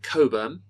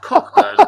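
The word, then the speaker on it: Cockburn's: a bottle of Tony Coburn which I've been corrected on at last which he had been incorrectly pronouncing no point at no point had David told me it's not pronounced cockburn it's and he had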